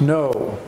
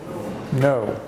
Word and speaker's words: know: word no and new the K is silent it's no no and to think the